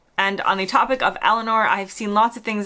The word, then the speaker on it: Eleanor: And on the topic of Eleanor, I've seen lots of things online that with a British accent, it kind of has a less of an R at the end, whereas I pronounce it Eleanor.